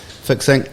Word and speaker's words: Fixinc: Is that how you pronounce Fixinc. it? Fixinc.